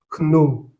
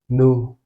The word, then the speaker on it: know: Pareillement, ceci, ce n'est pas kno, c'est tout simplement no.